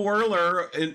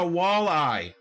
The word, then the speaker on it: walleye: I haven't caught no whirler all day. You know, whirler. That's the one that gets me. It's like, say it right, please. It's a walleye. Walleye, enunciate. Whirler.